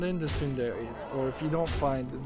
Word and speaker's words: tsundere: Moving on, we've got a game called Tsundere Idol. Tsundere is spelled T-S-U in D-E-R-E space Idol, I-D-O-L.